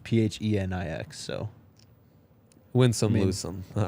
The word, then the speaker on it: Phoenix: People are saying it's pronounced Phoenix. All right, sorry. It's spelled Phoenix, though. It's Phenix, so...